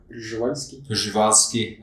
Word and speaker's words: Przewalski: What's the proper way to pronounce Przewalski, by the way? Przewalski. Okay. We always mispronounce it in English.